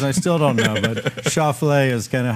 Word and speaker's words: Schauffele: 3 years, and I still don't know, but Schauffele is kind of how I say it, and it's got a little ring to it. I call it the omelet version. Yeah, yeah. Schauffele.